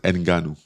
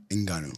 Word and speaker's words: Ngannou: hey all these year this I thought you pronounce it enanu oh I'm not even saying it right enanu oh my bad like that with deep voice enanu okay better so if I had don't be